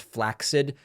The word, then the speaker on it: flaccid: and I know that technically it the word is pronounced flaccid but nobody says it that way so I'm going to continue saying flaccid so people know it